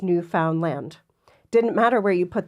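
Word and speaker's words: Newfoundland: is from here it's Newan land Newan land so they emphasize the land but it is Newan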